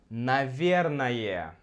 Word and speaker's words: наверное: Следующее слово это «наверное». И когда мы произносим его быстро, мы отменяем последнюю гласную. Наверное. И также мы меняем О на А, потому что ударение у нас здесь.